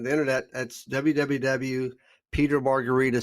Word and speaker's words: Margaritis: internet that's www peter marguerita said my last name is spelled m-a-r-g-a-r-i-t-i-s it's pronounced like a cocktail but it's spelled like an inflammation yeah it should be